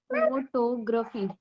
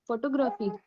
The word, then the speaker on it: photography: me photography no like when we pronounce photo individually it's photo right but when you group it with graphy it would be pronounced like this just a second photography